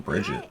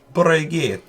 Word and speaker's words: Brigitte: everyone, Just calling her fucking Bridget. That's. I think everybody was. Whoops. Brigitte.